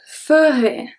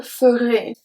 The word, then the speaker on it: ferai: Because if we look at je ferai, vous ferez, the pronunciation of ferai is exactly the same. Because AI at the end make the sound E, EZ at the end make the sound E.